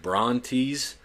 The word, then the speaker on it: Brontes: Their names were Brontes, Steropes, and Argos, literally translated to thunder, lightning, and brightness.